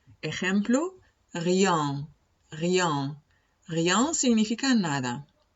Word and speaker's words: rien: Cuando tengamos una EN al final de la palabra, la pronunciamos en ese caso no como on, sino como el 1 en francés. O sea, la pronunciamos un. Ejemplo, rien, rien.